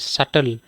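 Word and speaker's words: subtle: হয় ড্যাট ঠিক আছে তারপরে আছে এস ইউ এস ইউবি টিএল ই সাটল ঠিক আছে এস ইউবি টিএল ই সাটল be silent সাটেল মানে কি সাটেল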